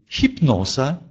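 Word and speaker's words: hipnoza: Или «хипноза», «хипноза», «гипноз». Видите, здесь «х» стоит перед «и», и поэтому смягчается.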